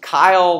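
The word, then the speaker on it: chyle: It's my name, right? What's that? Kyle. But it's spelled differently, right? So Kyle, which is the fatty lymph that you absorb along your intestinal tract, is C-H-Y-L-E, right?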